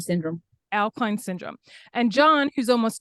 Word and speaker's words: Au-Kline: And how do you pronounce that? Au-Kline Syndrome. Au-Kline Syndrome.